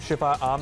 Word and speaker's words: Shifaam: तो इसे हम शिफा आम भी कह सकते हैं और शिफम भी कह सकते हैं। शिफा आम, हाँ, ये होगा शिफाम एक्चुअली, पता भी कर लेते हैं जी।